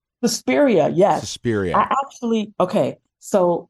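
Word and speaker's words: Suspiria: you um sespa am I saying it right susperia yes I actually okay so like you you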